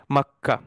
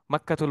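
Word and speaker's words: مكة: তো আমরা প্রথমে শুরু করি মাক্কা রেহলাতুনা। আমরা প্রথম অংশ আমরা শুরু করছি বিসমিল্লাহি নাবদা, আল্লাহর নামে শুরু করছি। মাক্কা, মাক্কাতুল মুকাররামা, মক্কা যেটা আমরা বাংলায় বলে থাকি, বাট আরবিতে উচ্চারণটা হচ্ছে মাক্কা।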